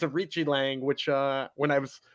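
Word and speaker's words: Aoriqileng: properly so oh yeah I said aori key Lang or something like that but it's a it's a Richi Lang which uh when I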